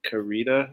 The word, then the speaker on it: Carita: Today on the show, we have Jerry Karita. Is that how you pronounce it?